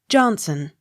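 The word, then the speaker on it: Johnstone: v i s jarvis j o h n s t o n e johnson the t not sounded k e n n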